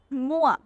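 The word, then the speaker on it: moi: है तो एम पतो ओ आई वा ओ आई की क्या साउंड होती है उआ उआ फॉर एग्जांपल मुआ मुआ मुआ का मतलब मे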